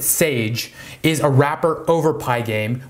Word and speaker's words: SGE: Now, Pygame is the most popular game building library in Python, and SGE, you pronounce it Sage, is a wrapper over Pygame, which makes it even easier to use.